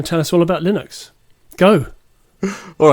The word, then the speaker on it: Linux: And uh, Andy's going to tell us all about Linux.